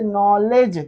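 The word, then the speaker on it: knowledge: और ऐसे नॉलेज के के आगे एन आया तो नॉलेज ऐसे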